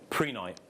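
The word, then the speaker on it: prehnite: moving on oh yeah how do you pronounce this pre-night or pre-night prena pre-night yeah technically this is that's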